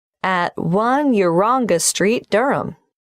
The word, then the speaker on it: Durham: of course I should know that but it's just one of those names that sounds quite different from the way you spell it it is confusing I've